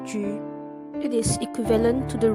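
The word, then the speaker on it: 車: The chariot piece in Chinese chess is pronounced as Ju.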